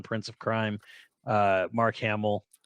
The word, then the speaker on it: Hamill: of Crime uh Mark Hamill oh it's pronounced Hamil actually so everybody's been saying it wrong forever Mark so is